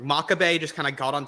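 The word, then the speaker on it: Makabe: right I think yeah Maccabi uh I'm sorry makabay I always say the name wrong makabay just kind of got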